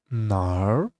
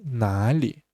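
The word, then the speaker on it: 哪儿: So this one nar um because it's just from Beijing the pronunciation also you can say nali or nar is also uh called just a lot of I think it's north dialect nar but on a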